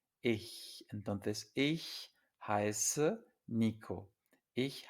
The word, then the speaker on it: ich: Ya vimos la última vez que la combinación CH después de una I se pronuncia muy suave, es ich, ich.